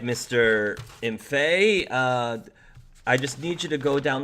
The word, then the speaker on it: Imphey: Imphey is the correct pronunciation, but Is that French?